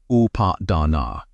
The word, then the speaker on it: upādāna: The poly word for clinging upon pronounced updana means fuel.